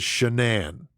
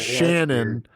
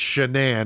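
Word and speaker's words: Shanann: the apostrophy one without but the way it's pronounced is shanan okay so it's not Shannon it's shanan it's it's it's definitely strange okay um but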